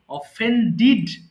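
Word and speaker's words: offended: অফেন্ড, অফেন্ডিড, অফেন্ডিড। হ্যাঁ, আমরা লাস্টে যেহেতু ডি, ডি থাকলে অবশ্যই আপনি ডিড উচ্চারণ করবেন, ডেড নয়, ডিড।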